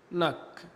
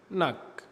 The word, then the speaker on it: knock: حرف الكي لو جه وراء حرف الان فإن حرف الكي لا ينطق، ما بننطقوش. ناخد أمثلة. كلمة knife، no، knee، kneel، knock. تاني knife، no، knee، kneel، knock.